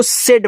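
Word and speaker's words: said: एस ए आई डी इसको सेड पढ़ते हैं।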